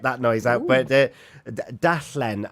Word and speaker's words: darllen: But darllen, and you got an R in front of it as well. If you can roll your R's, darllen.